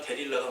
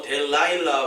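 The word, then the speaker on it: דלילה: 실제로 히브리어에 가보니까 데릴라가 맞더라고요. 네, 그래서 이 삼손과 데릴라 하는데 이제 데릴라라는 말이 히브리어로는 더 맞는 말이다. 그래서 이제 영어로는 뭐 델라일라 뭐 해가지고 되게 또 힘든 발음을 하던데, 어쨌든 들릴라, 데릴라 다 같은 말입니다.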